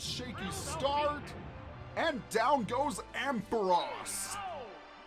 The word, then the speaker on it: Ampharos: start and down goes ampharos i know some people pronounce it ampharos but they pronounced it ampharos in the anime so last up is